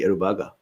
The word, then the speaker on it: Aruba: really scary aruba so aruba i was actually pronouncing correctly aruba i had slightly fast about movement the first